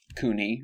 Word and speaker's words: CUNY: In order to find, there are several different campuses and component institutions for CUNY, or CUNY, yeah, I think that's a hard C.